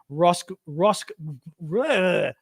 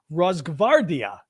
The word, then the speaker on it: Rosgvardia: I can never pronounce this word because it's got funny lettering. Rosgvardia. It's GV. G as in George, V as in Victor. Rosgvardia. Try saying it yourself. The GV. Rosgvardia.